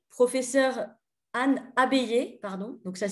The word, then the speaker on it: Anne Abeille: Voilà comment Annabelle, professeure Anne Abeille, pardon, donc ça s'écrit ABEI2LE, qui est professeure de l'université à l'université Paris-Diderot, professeure de linguistique.